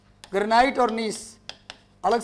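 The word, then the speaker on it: gneiss: इसका निर्माण ग्रेनाइट और नीस, नीस में जी साइलेंट होता है, जी लिखते पर उसका उच्चारण हम नहीं करते।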